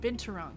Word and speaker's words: binturong: Binturong, thank you. I knew. I feel like I was missing a syllable.